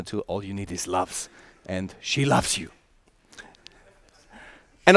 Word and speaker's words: LUFS: talking about and in in the English language it's very nice because you can pronounce it loves you know and we